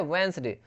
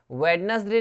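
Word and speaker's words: Wednesday: क्या होता है ये, वेंसडे। वेडनेसडे नहीं बोलते इसको, इसको क्या बोलते हैं, वेंसडे बोलते हैं, डी साइलेंट रहता है, वेंसडे।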